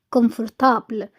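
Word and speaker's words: confortable: عملي براتيك براتيك مريح كومفرتابل كومفرتبل مش زي الانجليزي النطق شبيه شويه والشكل بس مش زيها تماما لان في الانجليزي بنقول كم بالام هنا بالان شيك انترسون انترسون جميله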